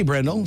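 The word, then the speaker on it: Bryndle: today if I pronounce that right is it brendel b-r-y-n-d-l-e what you said that right sure Randall happy birthday brendel seven years old today and I got the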